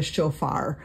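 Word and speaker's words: shofar: being sounded or sometimes we call that the chofar um and if you want to write that down um it's spelled s h f a r that's just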